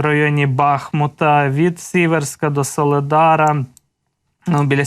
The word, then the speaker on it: Бахмут: бахмута чи бахмута Перепрошую ви завжди мене виправляєте що в місцеві кажуть Бахмут і наголос Саме так треба ставити Буду намагатися запам'ятати це постійно постійно не там ставлю наголос не так наголошую Бахмут має бути Бахмут так Отож тут далі